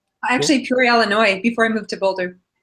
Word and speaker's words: Illinois: of Science and bioengineering at the University of Illinois did I ever tell you Dr Jill that